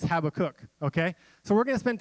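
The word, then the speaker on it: Habakkuk: and when I mean how to cook it's Habbakuk okay so we're gonna spend time in the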